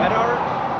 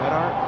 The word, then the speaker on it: Medart: We're go to uh Menart. That's how you pronounce it. Menart.